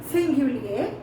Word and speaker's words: singulier: Singulars, we pronounce it like singulier, and plurals, we pronounce it as pluriel.